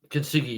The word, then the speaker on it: Kintsugi: My track, one of my blue ribbon tracks from Pattern Recognition I put down is Kintsugi. Is that how you pronounce it? Track number 7. Kintsugi, yeah.